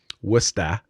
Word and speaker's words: Worcester: Worcester, if you pronounce it correctly.